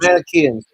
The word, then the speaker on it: Manichaeans: problem from the Manichaeans, I believe, if I'm pronouncing the Manichaeans. that right. Yeah, the Manichaeans, right. The Manichaeans.